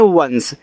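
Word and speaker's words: once: चलिए देखिए स्टूडेंट यहां पे लिखा है कि ओ एन सी ई देखो हमने आपको जब छोटे-छोटे वर्ड का प्रोनाउंसिएशन करना सिखाया तो वहां इसको लिखाया था ना तो इसको पढ़ते हैं वंस। क्या पढ़ते हैं? वंस पढ़ते हैं।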